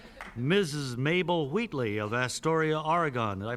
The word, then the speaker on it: Oregon: Mabel Wheatley of Astoria, Oregon. Did I pronounce that correctly, Miss Wheatley? Yes, Oregon.